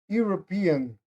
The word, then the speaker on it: European: Sim, mas nesse caso aqui a pronúncia dessa palavra é European.